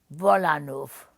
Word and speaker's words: Wolanów: I've been born in Poland, Wolanów.